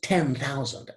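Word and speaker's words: ten thousand: I would pronounce 10,000 as two stressed syllables in a row.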